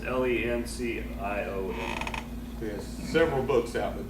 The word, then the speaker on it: Lencioni: Patrick Licinoni? I don't know how to say his last name, but Patrick Licinoni. It's Lencioni.